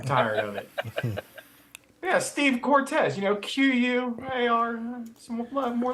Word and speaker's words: Cortez: Cortez or something. Yeah, because you spell Cortez with a Q. You do. Yeah, the Q is Steve's last name. Exactly. Cortex. Cortex. It's Cortez, C-O-R. But I pronounced it Cortez, not Cortez.